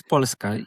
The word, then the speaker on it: Polska: At the beginning, you told me how to pronounce Warsaw in Polish. It's Warszawa. Warszawa. And Poland Warszawa. is Polska.